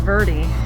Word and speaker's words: Verde: of the way is the way they pronounce it we're gonna have to get used to it's verdi oh i don't like that